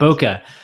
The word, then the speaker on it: bokeh: like so they're working on the on the boka is that is that it am I saying it right Bak yeah is it chewbaka or chwok it's the bokeh effect boka anyways the bokeh effect so they're still working